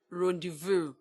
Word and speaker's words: rendezvous: you spell for instance you spell render Vaz bond pronounce rendezvous now let us look